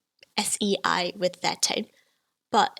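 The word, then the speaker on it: 死: cantonese sei is pronounced s-e-i with their tone but it also sounds very similar to sei in the second tone which means death or to die so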